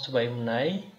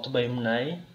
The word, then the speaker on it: Tubaimunai: Some pronounce Tubaimuna, others pronounce Tubaimunai. So in both cases, it is mutually intelligible. Whether you say Tubaimuna or Tubaimunai, you are going to be understood.